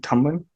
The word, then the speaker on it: Tumblin: very special guest uh his name is Tomlin if I'm pronouncing that correctly yep that's right so he